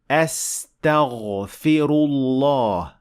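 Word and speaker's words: أستغفر الله: After that, the fa has kasra. Don't forget, this is very important. Astaghfi. And last, the ra has dhamma. So we say astaghfiru, astaghfirullah.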